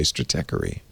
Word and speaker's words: Stratechery: We have to decide how it's pronounced. And I'm going to say stratechery. I believe that's correct.